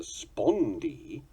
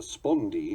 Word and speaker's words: spondee: The spondee is of equal stressed units. This also obeys its own definition in its pronunciation and is spelled S-P-O-N-D-E-E.